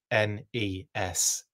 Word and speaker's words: NES: Jeremy says, say it right, N-E-S.